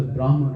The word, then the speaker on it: Brahman: When we go there, if we merge into Brahman, that's eternal realization.